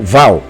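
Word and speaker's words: ו: então aqui está o uau ou Val né Val ou Uau você pode pronunciar ele Val ou uau não tem problema ele tem o mesmo o mesmo aceitar as duas formas aqui está uau é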